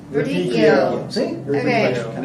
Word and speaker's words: Verdicchio: I can't even know if I can even pronounce it. Yeah, well, I kind of put the little accent on there, but Verdicchio. Verdicchio.